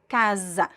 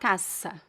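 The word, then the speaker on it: casa: but if you find the S between two vowels, it be it becomes Z. So repeat after me. Kaza Kaz. It's not Kasa Kaze like in zebra, right?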